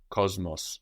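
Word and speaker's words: κόσμος: in Cosmopolitan is Cosmos this is spelled with an s in Greek but we hear a zed before that M Cosmos the world or Cosmos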